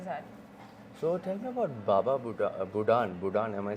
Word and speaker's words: Baba Budan: So tell me about Baba Budan, am I saying it right?